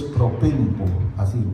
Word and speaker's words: propempo: La palabra que aquí se usa en el griego es propempo, así se pronuncia.